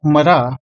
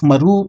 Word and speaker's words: Marah: Mem Resh He, and while it is currently pronounced Marah, it could have been pronounced as Maru instead during the time of Moses.